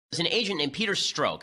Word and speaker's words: Strzok: There's an agent named Peter Strzok. I think that's how it's pronounced. S-T-R-Z-O-K. Peter Strzok.